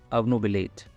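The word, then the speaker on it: obnubilate: इस शब्द का प्रोनाउंसिएशन थोड़ा सा अलग है, ओ क्यों हम अ पढ़ते हैं, अवनुबिलेट।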